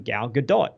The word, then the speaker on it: Gal Gadot: when I read it, I'm like, oh, it's Gal Gadot, because that's how I pronounce the engine, the game engine, Godot. And then she'll say, I'm Gal Gadot. I'm like, no, that's not right. That's not how you pronounce it.